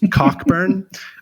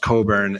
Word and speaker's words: Cockburn: in a session where I called Bruce Coburn Bruce cockburn um and someone very graciously told me that it's pronounced Coburn and so I'm going